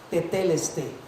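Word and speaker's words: τετέλεσται: esta frase realmente es una palabra en griego que se pronuncia t teleste What t teleste Eso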